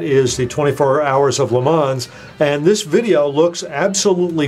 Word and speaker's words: Le Mans: Now it looks like lemons. They pronounce it Le Mans.